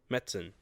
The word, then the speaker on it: Metzen: Metzen.